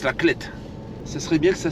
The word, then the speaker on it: La Clayette: Et on est aussi très proche de la Clette. Excusez-moi pour la dernière fois, la Clayette. Hein. Ça s'écrit la Clayette, mais ça se prononce la Clette.